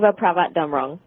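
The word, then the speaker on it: Chevapravatdumrong: How do you pronounce Cherry's last name? Chiva Pravat Damrong.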